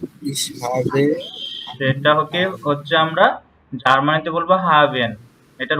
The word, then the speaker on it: haben: তো আমরা ইংলিশে যদি বলি হ্যাভ, সেটা হচ্ছে আমরা জার্মানিতে বলবো হাভেন। এটার উচ্চারণ হবে কি?